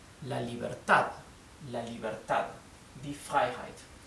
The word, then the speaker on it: Freiheit: Die Freiheit. Die Freiheit es la libertad. La libertad. Die Freiheit. La sílaba EI se pronuncia I en alemán.